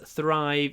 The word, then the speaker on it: thrive: Bears thrive in this environment. To thrive. Процветать. I want my children to thrive. Thrive. Quite hard to pronounce, isn't it? Lips forward. Thrive.